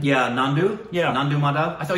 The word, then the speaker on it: Nandu: Is that how you pronounce his name? Yeah, Nandu.